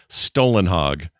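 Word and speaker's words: Stålenhag: He says, "For future reference, the closest way for an American to pronounce Stalinhog correctly would basically to say Stolenhog.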